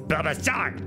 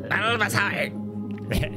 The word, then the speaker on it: Bulbasaur: How his name is pronounced. It's Bulbasaur. Bulbasaur. It's like the grass should be strong against water, but that's not how this thing works.